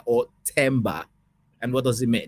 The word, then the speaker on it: Themba: the the th H thba or tber and what does it mean it's the latter so tber with like a silent h so we don't pronounce